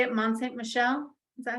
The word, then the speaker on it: Mont Saint-Michel: Mont Saint-Michel?